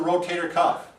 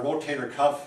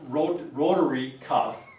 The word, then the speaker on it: rotator cuff: It is not rotary cuff.